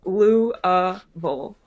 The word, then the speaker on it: Louisville: Am I supposed to have more of a slur of it, or That's are you actually pretty gonna pronounce it? good. That's pretty good. Louisville.